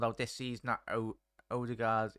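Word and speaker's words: Ødegaard: this season that oh Odegaard is pronounced older guard spots on there hey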